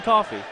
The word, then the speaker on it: Coffey: John Coffey, like the drink. just not spelled.